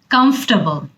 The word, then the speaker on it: comfortable: এরপরের শব্দটা হচ্ছে comfortable। এটাকে আমরা অনেক ভুল করি এবং অনেক ঘন ঘন বলি কমফোর্টেবল অথবা কমফোর্টেবল। এখানে কিন্তু টেবল পার্টটা অনেকটুকুই ছোট হয়ে আসে, আমরা কি বলি?